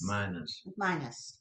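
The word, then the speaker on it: minas: How do you spell that word? M-I-N-A-S. Minus.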